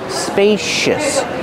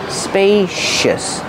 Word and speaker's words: spacious: these spacious cabinets pronunciation spacious use a long a like pay and say spacious the C makes a sh sh sound like shoes and show spacious use a relaxed sound